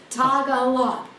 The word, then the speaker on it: Tagalog: Three syllables. Oh, three syllables. Tagalog. Okay. Which way's right? That's right. Okay. I said it right.